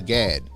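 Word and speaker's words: Gadde: of trust and safety and uh Vijaya uh Gad then that's how you say her name head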